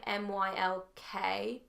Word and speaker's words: Mylk: And literally, I don't even understand how there's no milk in there because it's so creamy. It's amazing. So there are brands out there, like there's a brand called Milk, spelled with a Y, MYLK.